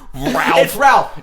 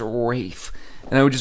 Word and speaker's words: Ralph: like choosing to print just mispronounced Ralph if I ever was in New York City interested le any word I'm like oh my god that's ray Fiennes at the table next to us we're the making Fox I don't know who he's with yeah but I would walk over hey Ralph okay shake your hand and you look at me no and names my name is Rafe yeah Ralph that's cool